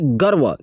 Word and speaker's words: गर्व: सामर्थ्य के लिए हमें गर्व महसूस, इसे पढ़ेंगे गर्व, क्या पढ़ेंगे गर्व। ये जो कि रेप, व पर जो कि रेप लगा हुआ है ना, ये र का उच्चारण रहता है, गर्व।